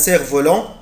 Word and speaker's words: cerf-volant: fabriquer un cerf-volant هصنع cerf-volant. ما بقولش يا ولاد سيرف، مش بنطق حرف الاف.